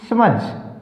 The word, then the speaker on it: smudge: SMUDGE समझ, D silent.